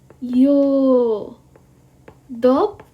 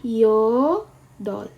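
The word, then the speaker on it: 여덟: Apakah kita bacanya yo dog? Apakah kita bacanya yodog? Tidak. Yang kita baca adalah yodol. Oke, yang kita baca jadinya yodol. B-nya ini tidak kita baca.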